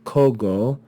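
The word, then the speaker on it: cogo: of this word so instead of saying KO ago we contract the vowels and we have the vowel o and the ah is simply dropped because it's contracted from other vowels this is long right so we see the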